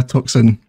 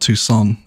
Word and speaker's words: Tucson: took some time compass of education ah yeah toxin i got called out for that one in the comments big time yes toxin university everyone yes i now realize it's called tucson it should believe is the correct pronunciation am